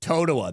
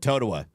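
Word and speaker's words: Totowa: Toa, that's how you say it. Toadawa.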